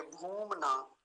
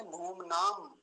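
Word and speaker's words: भूम्ना: था मेरे पास बोलकर घूमना घूमना नहीं है घूमना होता हैसे बड़े उ की मात्रा है ये ठीक है जी तो लंबा ही खींच उसको खींच कर बोलेंगे भूम ना फिर से देख लीजिए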